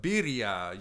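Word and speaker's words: birria: point for that one it's a birya you kind of pronounce a p at the beginning that's a b dog what what is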